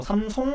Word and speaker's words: 삼성: 다음 기사입니다 2013년과 다른 삼성전자 160만 원 돌파한 이유 뭘까요 사진 잠깐 보세요 삼성 우리나라는 삼성이라고 발음하지만 해외에서는 뭐 삼송 이렇게 얘기하 이렇게 발음하던 자 19일 현지시간 기전입니다